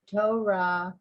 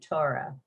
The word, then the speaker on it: Torah: difference in pronunciation between torah and torah torah is hebrew torah is sort of english generally the hebrew accent is generally on the last syllable so is you